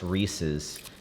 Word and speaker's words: Reese's: I tell you the Hershey the the Reese's cup, which apparently it's pronounced Reese's because the man who invented it, his last name is Reese. I say Reese's.